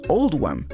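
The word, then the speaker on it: Oldham: se hizo para reflejar la pronunciación de oldhem en el acento local que es all One en consecuencia rendir homenaje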